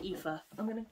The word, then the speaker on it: Aoife: It's pronounced Aoife. I'm not comfortable. Let me get comfy. There we go. Aoife, wow, fantastic.